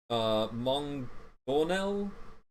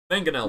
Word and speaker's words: mangonel: The frigate has 2 ballistas, each require 3 crewmen to operate, and 1 Mongonel, I think it's pronounced. I don't know how to pronounce it. Mangonel, thank you.